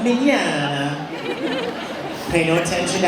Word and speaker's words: Mignogna: my name is Vic minana it's pronounced man like Italiano minana pay no attention to